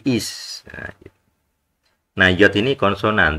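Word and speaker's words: אִישׁ: nikut I nah ini bacanya bukan ace ya tapi is nah nah Yod ini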